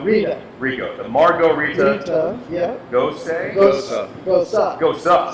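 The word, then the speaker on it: Gose: Gosa. Gosa. So it's like Rosa with a G.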